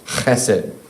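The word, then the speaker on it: חסד: the Old Testament, and it's pronounced chesed. Chesed.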